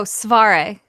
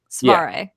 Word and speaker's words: Cvareh: Yeah, it's usually the CV that once I kind of get across it's the soft C, sound. The rest is pretty phonetic. Svare.